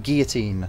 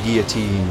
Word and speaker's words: guillotine: So it's Madame Guillotine, not Guillotine.